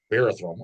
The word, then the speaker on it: Barathrum: How do you pronounce it? bathroom, Barathrum.